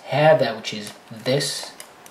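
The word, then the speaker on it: هذا: Also, this word, it's hada, which is this. Although it doesn't have an alif, but when you pronounce it, it's as if there is an alif right there.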